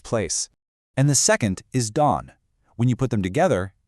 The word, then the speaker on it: 郸: The first one, pronounced Han. This gives us a sense of place. And the second is Dan.